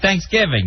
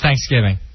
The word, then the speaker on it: Thanksgiving: caribbean or caribbean right there's one way to say thanksgiving yeah it's just well what syllable you put the emphasis on uh let me check